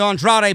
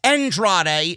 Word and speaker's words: Andrade: Charlie Caruso interviewed Zelina and Andrade backstage about facing Drew McIntyre. Zelina said, it's not Andrade, it's Andrade. Zelina Vega is now giving, names and pronunciation here on Monday Night Raw.